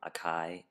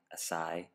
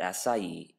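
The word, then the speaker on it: açaí: Berry in our opinion the most mispronounced food this year we've heard it all from Akai asai but this fruit has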